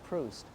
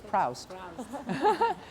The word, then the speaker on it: Proust: And in English, OU is usually ow. So in my mind, in my head, I thought it was Proust.